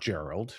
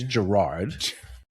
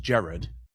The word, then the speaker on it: Gerard: No, in fact, my name's not Gerald, right? It's Gerard. In Trinidad, it's it's pronounced Jared.